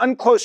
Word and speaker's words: UNCLOS: as you'll see, the Unclose Treaty is only one part, and that's the the the weird pronunciation of a long acronym, UN Convention on the Law of the Sea.